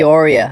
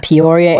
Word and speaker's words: Peoria: Poria. Peoria, Arizona.